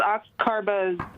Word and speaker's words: oxcarbazepine: They just went right into the oxcarbazepine.